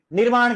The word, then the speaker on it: निर्माण: ये यूं है देखो इधर हमारे हिंदी में उच्चारण में जो र आता है वो वर्ण के बाद आएगा और अगले से पहले आता है। देखिए वस्य वर र का उच्चारण पहले आ रहा है। जैसे निर्माण कैसे लिखते हैं? यह ऐसा लिखता है ना तो यह वास्तव में निरमाण ऐसे उच्चारण होता है निर्माण तो मैंने क्या कहा